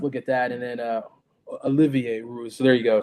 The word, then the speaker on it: Olivier: Entered the portal, and the 7'9" center Olivier Rioux from Florida have entered the portal. You know, Olivier, Crooks, you got to say it like yeah, the French. Olivier, yeah, my bad.